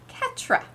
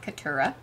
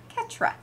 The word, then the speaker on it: Ketra: Her name is Ketra. It's not Ketura. It's Ketra. Look at me learning things. You don't pronounce the U at all, huh?